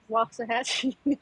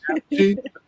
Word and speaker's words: Waxahachie: Waxahachie. God bless you. Waxahachie? Yeah, it's not Okay. Waxahachie. It's walk, like you're walking. Waxahachie.